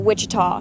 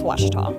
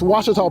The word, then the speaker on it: Ouachita: for Washita Baptist University back in Texas everybody pronounces it Wichita but really it's Ouachita Washington how would you pronounce it off it's Washita Baptist University get it right it's Ouachita people it's Ouachita and welcome back to